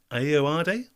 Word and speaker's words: Ayoade: which irish comedian and actor starred opposite richard ayodee in the i.t crowd which irish comedian and actor starred opposite richard ayo ayoade in the it crowd tricky one for pronunciation there but again 20 seconds on the